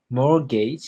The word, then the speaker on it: mortgage: interesting Mort a mortgage mortgage the T is silent silent mortgage is money that